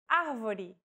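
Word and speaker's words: avó: with the acute accent vowels with the acute accent will be stressed and pronounced with open pronunciation avo this word means grandmother if said with a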